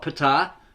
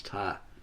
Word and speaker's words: Ptah: It's not Ptah, because this is silent, right? The P is silent. It's Ptah. The atom.